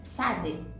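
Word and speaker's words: צדי: É como se fosse um fonema entre a letra T e a letra Z. T, Z ou T, S.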